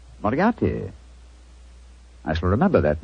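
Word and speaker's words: Moriarty: Miati. Moriati.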